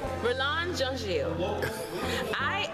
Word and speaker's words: Mirlande Jean-Gilles: To make it easier, I will say Mirlande Jean-Gilles for folks, because I know Jean-Gilles is not American pronunciation, so I will say Jean-Gilles. What would you like to say in Haitian to people who...